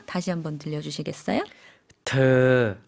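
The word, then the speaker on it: เธอ: เ ธ อ 네. 더라는 건데 사실 이 발음 한국 분들이 하기 조금 어려운 발음 같아요. 의와 어의 중간 발음이거든요. 다시 한번 들려주시겠어요? ธ อ 네.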